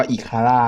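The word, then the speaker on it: Ikara: นะ ครับ อาวุธ ชนิด นี้ นะ อ่าน ว่า อีคาร นะ ครับ เป็น ขี วุฒ อิค ครับ เป็น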